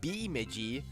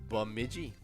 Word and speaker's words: Bemidji: correct uh because it is it is actual pronunciation but mid-g yeah and so there it's not beemiji like maybe some people like to say it's bemidji that's right yeah the name bemidji actually comes